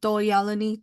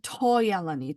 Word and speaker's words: Doyalani: educators that were non-Zuni, they called Doyalani Toyalani T-O, and so it used to be called T-Y for a long time, but it Why? was yeah, but it was actually a mispronunciation of Doyalani.